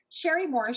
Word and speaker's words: Cherie Morris: Please excuse my mispronunciation earlier. It's Cherie Morris.